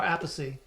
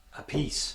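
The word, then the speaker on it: Appice: how do you say his last name or apathy a piece a piece yep tomato tomato a chew a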